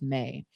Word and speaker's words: me: It was used for votive objects and then amulets, particularly amulets for the May protocols, which is spelled M-E but pronounced May.